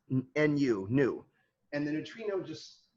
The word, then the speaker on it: nu: neutrino is the greek letter uh nu that's pronounced nu nu and the neutrino just you know i